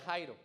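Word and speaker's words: χαίρω: Se escribe chairo, pero se pronuncia Jairo.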